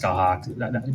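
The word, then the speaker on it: Scáthach: It's spelled Skathach. It's pronounced Skahawk. Gaelic is weird.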